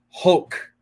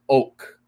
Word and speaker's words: hoc: Pius X, is oak. No pronunciation of the H, right?